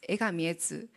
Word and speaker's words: Egami Etsu: So one of my friend told how to pronounce in Japanese. So I said, it's Egami Etsu.